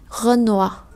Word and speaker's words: Renoir: Như vậy O-I trong tiếng Pháp thì sẽ giống với lại O-A-oa trong tiếng Việt. Như vậy đây không đọc là noi hay khoi hay choice hay roi hay toi, mà chúng ta đọc là oa.